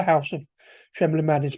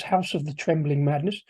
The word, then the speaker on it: House of the Trembling Madness: I always pronounce that wrong. I always call it the House of Trembling Madness, but it's not. It's House of the Trembling Madness.